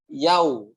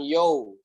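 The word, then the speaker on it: يوم: Kemudian Maliki Yau. Ya, jangan Yo. Tadi Sandi dengar ada di di rekaman teman-teman Yo. Ya, gitu. Bukan Yau. Tapi harusnya kan Yau. Maliki Yau. Nah gitu, Yau. Jangan Yo.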